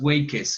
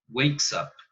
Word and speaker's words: wakes: Recuerden que aún si la E está entre la K y la S, esa E no va a sonar. Tú no dices wakes, no, o wakes, no. Wakes up, ¿ok?